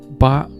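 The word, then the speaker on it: 八: Number 8, pronounced as Ba in Chinese, and get rich in Chinese is Fa means you get rich.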